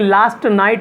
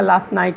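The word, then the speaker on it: last night: लास्ट नाइट, देखिए लास्ट नाइट ना बोले इसमें, लास्ट में टी साइलेंट हो जाएगा, लास्ट नाइट ऐसे बोलेंगे।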